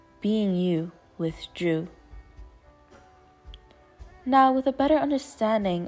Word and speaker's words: Dreu: The word Dreu comes from the Latin root word duru, which means to be firm, solid, and steadfast. A one-syllable name that is easy to pronounce and remember.